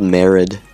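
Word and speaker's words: Marid: little mermaid or something it's called merid m a r i d I believe that's how it's pronounced also in this update the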